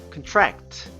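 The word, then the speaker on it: contract: 말씀드렸던 것과 마찬가지로 강세가 em 저려 옵니다 그래서 큰 트랙 트 이렇게 발음이 되고요 게 약하다 란 의미가 되죠 그런데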